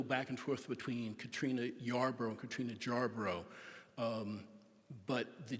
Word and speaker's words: Jarboro: Catherine Yarbrough into Katrina jarborough and I'm going to go back and forth between Katrina Yarborough and Katrina Yarbrough but the J is part of it would have been pronounced as a y sound which is why it